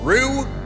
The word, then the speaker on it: Ryu: of different ways there's ryu rue and ryu i'm going with what i understand to be the japanese pronunciation so get off my